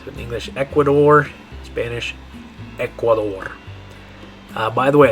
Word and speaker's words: Ecuador: In English, we'd say Ecuador. In Spanish, we're going to say Ecuador. Ecuador. Ecuador. Because of those vowel sounds, that's why it sounds different. Even though it's spelled exactly the same in English.